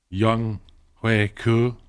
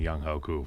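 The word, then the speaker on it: Younghoe Koo: Young Hui Koo and Kendall Fuller. Why'd you say it like that? because that's how I've heard it pronounced on the broadcast. And I was surprised because I've been saying Young Hoku.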